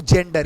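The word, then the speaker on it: gender: पढ़ोगे तुम क्या पढ़ोगे जैसे अगर मैं का डन जेंडर क्या का डन अगर मैं जेंडर का डन तो जी के बाद ए दिखाए है ना जी के बाद ये दिखा मतलब आई आई में से कुछ भी दिखाना चाहिए तो बताओ जी के बाद ए दिखाई उसको जब पढ़ेंगे तो क्या लिखने हैं जेंडर लिखने हैं ठीक है ना लेकिन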